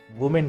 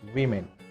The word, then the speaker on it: women: The correct pronunciation is women. There's a V sound at the start of the word women.